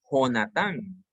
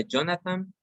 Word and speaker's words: Jonathan: El primero se pronuncia Jonathan y es un equivalente al español. El segundo se pronuncia Jonathan porque lleva una H en medio, es el equivalente al inglés.